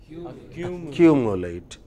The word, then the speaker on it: accumulate: Okay, when you have words like this ending in ATE, they always take stress of 2 syllables before ATE. So, what will be 2 syllables before ATE? Q. How would you pronounce it therefore? Accumulate.